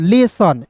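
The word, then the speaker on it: lesson: LESSION, तो इसे क्या पढ़ेंगे दोस्तों, लेसन। एल का लॉ, ई का उच्चारण ए के रूप में, SSION, इसे क्या पढ़ेंगे, लेसन। SSION को पढ़ते हैं दोस्तों सन, LE को पढ़ते हैं ले। लेसन हो गया।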